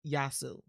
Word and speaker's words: Josue: yaa SS you but the best way to pronounce his name is drop the e so Yasu do you say that